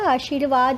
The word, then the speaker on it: आशीर्वाद: आशीर्वाद में र जो है वो व के ऊपर आता है, श के ऊपर नहीं आता। श के बाद इसकी साउंड आ रही है, इसलिए ये व के ऊपर आएगा।